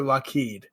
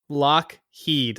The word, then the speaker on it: Lockheed: I mispronounce it again, is it Lockheed or Lheed? Lockheed. Like the uh the Okay. Yeah. Lockheed. I don't know why I said l the first time.